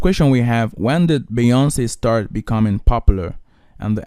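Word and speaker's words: Beyoncé: So this context is basically this: Beyonce, Giselle Knowles Carter, pronounced Beyonce, born on September 4th, 1981, is an American singer, and all of that.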